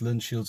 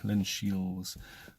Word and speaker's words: Linshiels: along to Linshiels, and that's Linshiels without a D, Linshiels.